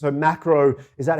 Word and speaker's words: Maqro: us firstly it's a macro is that how you pronounce the uh the company and tell us about what you're offering exactly yeah that's macro with a q m-a-q-r-o yeah so effectively what